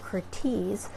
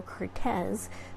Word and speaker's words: Curtiz: Wolf and that was Michael Cortese or I guess we should really say Michael Curtiz but historian Alan Kay